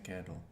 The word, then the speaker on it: quedo: Me quedo. Quedo. The E doesn't split here, but good for trying. Quedo. Quedo. I remain myself. Me quedo. Me quedo. Me quedo. This means I stay. Me quedo.